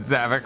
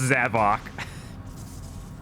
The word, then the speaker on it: Zavok: Him and Zavic are the best characters." Oh, that's true. You're right. His name is pronounced Zavok.